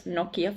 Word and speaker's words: Nokia: So this was near the town of Nokia. And yes, that's how you pronounce Nokia phone too, by the way.